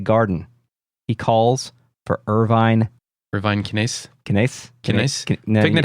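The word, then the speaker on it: Kinneas: It's Kinaeus. If I wanted to sound like a turd, I would pronounce it like Irvine Caneus.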